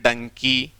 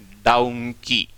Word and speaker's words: donkey: तो ध्यान दें, सही जो शब्द है ना वो यही है, डाउंकी।